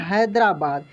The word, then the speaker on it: Hyderabad: तो ऐसे लिखा हुआ मिले या ऐसे लिखा हुआ मिले, दोनों का दोस्तों होगा हिंदी हैदराबाद।